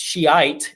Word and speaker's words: Shia: Shia, or sometimes pronounced Shiite, and you got to be real careful with that one.